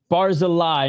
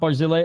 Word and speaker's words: Barzilay: Sorry for mispronouncing his name, guys. Barzeli, not Barzil.